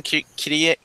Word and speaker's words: Kirie: And what is, I'm sorry, Maddie, how do you pronounce the main character's name? What is her name again? Kirie? Yeah.